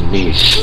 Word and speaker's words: Niche: It is actually Niche, not Nietzsche, so I apologize for that. I will call him Niche from now on.